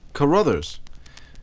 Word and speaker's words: Carruthers: That middle name is spelled C-U-R-R-U-V? That's T-H. Oh, Carruthers.